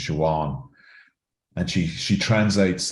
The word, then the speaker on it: Siobhan: she pronounces her name she won because where she's from BH is W so she pronounces her name Juan and she she translates